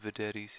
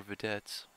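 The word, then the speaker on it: Vedette: care to get some vetes here or viets rather that's how you pronounce it and in my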